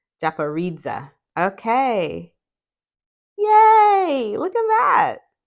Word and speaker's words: Japaridze: Japanese tarot okay yes has four syllables the accent is primarily on the third syllable and second Dairy secondarily on the last one Japanese okay yay look at